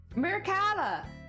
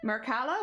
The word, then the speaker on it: Mercado: language I'm still learning Mercado Mercado with stress on the cat oh mercalla here we